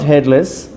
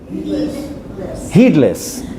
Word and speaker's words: heedless: No, not headless. You write it H-E-E-D-L. Heedless.